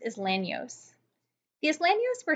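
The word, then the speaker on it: Isleños: to Louisiana is a group called the Islamic spelled like is Leno's but it's pronounced as land knows he is land use for Spanish speaking so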